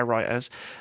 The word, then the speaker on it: Reuters: as reported by by Wright Reuters that's how you pronounce him as reported by writers the lawsuit alleges the